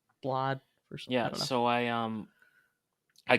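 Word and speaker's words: Blaidd: blood his name is looks spelled like blade but it's yeah pronounced like something else blood yeah so I um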